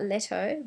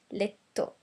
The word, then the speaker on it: letto: It's not letto, but letto. The other rule is don't pronounce the H.